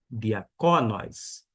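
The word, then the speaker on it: διακόνοις: cai ou caí diá Diaconóis. Por que eu pronunciei dia? Por conta que está marcando para mim. E você agora sabe disto. E a centuação está mostrando que a sílaba tônica é aqui.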